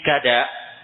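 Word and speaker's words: كداء: ketika mereka sampai di gada disebutkan di takliknyautn nomor du itu bi mamdud bacanya dengan cara menfathah KF dibaca panjang Gada Ini adalah sebuah tempat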